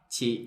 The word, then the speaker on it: chị: Chị. Okay, it's like stop at the end. So not chị. It's stop. The sound, it bounce back.